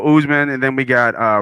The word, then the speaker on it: Usman: you and and and i want to say usement but it's not oozman oozeman right so usman and then we got